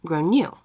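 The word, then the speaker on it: Gráinne: and I said well in Ireland they typically pronounce it like grown new her face went red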